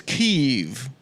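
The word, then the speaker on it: Kyiv: just wanted you and of course the correct pronunciation is keev you're GNA make Adam intro himself the whole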